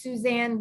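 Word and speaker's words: Susun: There's a gal out there, her name is Suzanne Weed, and Suzanne is spelled Susen, and Weed is Weed, and she's like a pharmaceutical genius, and she has so many articles and herbal infusions.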